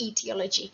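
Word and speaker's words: aetiology: It begins with an A, even though we pronounce it etiology.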